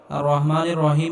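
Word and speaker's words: الرحمن الرحيم: রাহিম আর রহমানির রাহিম এখানে বড় হা এটি গলার মধ্যে হালকা চাপ দিয়ে উচ্চারণ করতে হবে আর রহ আর রহমানির রাহিম এখানেও বড় হা আর রহমানির রহিম বলা যাবে না আর রহমানির রহিম বললে নামাজ হবে না আর রহমানির রাহিম আর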